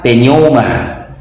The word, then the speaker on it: pneuma: bang belum Nah inilah penerjemahan dari penom ya pelafalannya penom ya asal mula dari 41